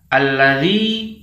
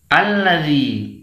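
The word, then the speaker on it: الذي: membaca dengan huruf j harusnya dibaca alladzi Dibaca Al lagi nah ini tidak boleh ya ini yang benar membacanya lipu kanji bedakan antara Lee dengan Gigi ini huruf saya ujung lidah kita bertemu dengan ujung gigi seri atas ya Rich atau boleh sudah kita dikeluarkan sedikit tidak apa-apa semoga Hai jadi ini yang benar membacanya Rich alladzi Bukan Ji Al lagi nah itu tidak benar ya kemudian kesalahan juga saat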